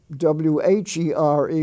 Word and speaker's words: where: went over there or w-h-e-r-e which is pronounced where where are you going or w-e-r-e were